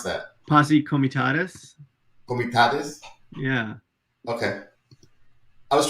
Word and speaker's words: Posse Comitatus: How do you pronounce that? Posse Comitatus.